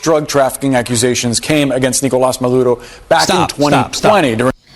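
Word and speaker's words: Nicolás Maduro: You don't pronounce his name Nicolas Maduro. Nicolas Maduro. You don't do that. You're speaking English.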